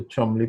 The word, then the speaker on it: Chumley: Chumley the last part the Chumley part is it isn't pronounced as long as it is spelt but if you think of a Chinese and you just think of Chung and Li you got it perfect I've been a